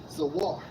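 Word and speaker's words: זוּר: Okay, for strangers in Jeremiah 30:8, Strong's H 21:14, pronounced as Zawar.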